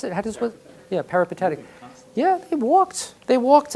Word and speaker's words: peripatetic: The Greeks who walked, and how do they pronounce it? Yeah, peripatetic.